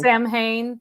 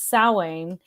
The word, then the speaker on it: Samhain: like salwain think of there's a little bit of that like halloween in there so that's how i